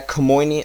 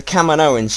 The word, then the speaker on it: Kaminoans: They're Camoinian. How do you pronounce it? Camoinians, the canoe Kaminoans. people, the Kaminoans.